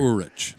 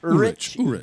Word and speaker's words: Urich: You're the last name pronunciator. I'm going to go Urich. Urich.